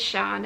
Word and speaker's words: Sian: So my name is Sian, which is spelt S-I-A-N with a circumflex over the A, but it's pronounced S-H-A-R-N, Sian.